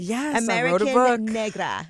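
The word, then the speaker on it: Americanegra: let's not forget that americ Negra is that am I saying it right you're saying it right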